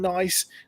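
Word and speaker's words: gneiss: this evening but luisian nice nice well it's a it's not spelt nice as in nice it's spelt uh gne iss so it's spelt slightly differently but it's a type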